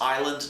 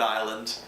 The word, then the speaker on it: Iland: morning best seller Island calm notice it's IL a nd there's no s that's pronounced like rhode island but no s Island calm can